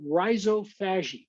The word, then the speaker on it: rhizophagy: I pronounce the word rhizophagy.